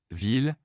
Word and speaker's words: ville: LL prononcé comme L, ville, Paris est une belle ville.